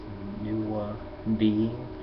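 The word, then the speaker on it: Nuwaubian: but to me I I break it down as nua b it's spelled n u w a b i a n just like would say lesbian or you know lesbianism or nwabiism.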